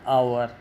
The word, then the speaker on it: hour: They will arrive within an আওয়ার, কারণ এইচটার উচ্চারণ নেই, ঘন্টা HOUR, আওয়ার তার আগে ওই প্রথম লেটারটা এইচ, ও উচ্চারণ হয় না, সুতরাং ওটা অ্যান আওয়ার।